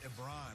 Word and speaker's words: Ebron: We once tried to convince him as a show to rebrand as Eric Ebron. It rhymes with LeBron.